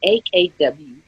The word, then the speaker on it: Akwei: I'm never quite sure how to pronounce his last name. It's Akwei.